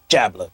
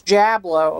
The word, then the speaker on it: Jablo: It is, the D is silent, so it's Jablo. Oh, it's Jablo. Yeah.